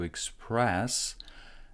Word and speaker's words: express: Stress goes onto this syllable here, and the first syllable is short.